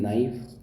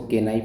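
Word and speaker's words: knife: तो इसमें are silent है। नाइफ इसको पढ़ते हैं नाइफ। इसको के नाइफ नहीं पढ़ते हैं हम।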